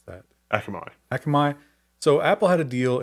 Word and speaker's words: Akamai: How do you pronounce that? Akamai.